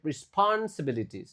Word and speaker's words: responsibilities: Jawabannya I see myself taking on more leadership responsibilities. Nah, ini susah huruf hidupnya. Jadi, kalian harus jeda ini dan catat dengan baik. Ris bukan rest. Respon sibili. Responsibilities. E dibaca ya.